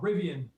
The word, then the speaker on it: Rivian: talk about too, but Rivian, is that how you pronounce that? It's called Rivian.